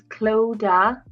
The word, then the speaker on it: Clodagh: So it's Clodagh. So basically you take the GH off the end. That's silent.